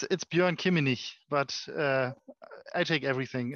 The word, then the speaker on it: Bjoern Kimminich: Is that how you pronounce it, Bjoern? It's Bjoern Kimminich, but I take everything.